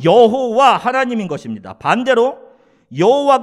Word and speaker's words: 여호와: 예 아도나이 에 모음 을 붙여서 이것을 야외에 여호와 라고 우리는 발음을 하는 거예요 자 그런데 우리가 전에 살펴본